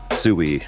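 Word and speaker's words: Suey: And yeah, by the way, it's spelled S-U-E-Y. Sui.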